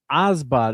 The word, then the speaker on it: OBSBOT: So it's Osbot. It's spelled OBSBOT.